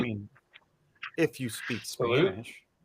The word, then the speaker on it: salud: mean, if you speak Salute. Spanish, Yeah, salute, with a D on the end. salute. But Salute. you don't actually, I don't think you really pronounce the D so much.